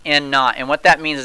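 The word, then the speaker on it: N₀: Now this N with a little 0 next to it is pronounced N naught.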